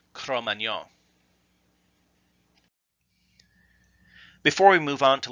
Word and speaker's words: Cro-Magnon: mispronunciation by the way the more common English pronunciation with the hard G is just an anglicized version of the true French pronunciation chrome Anyang before we move on